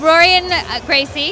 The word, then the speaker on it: Rorion Gracie: Hi there, I'm with Rorion Gracie. Did I pronounce that correctly? Correct.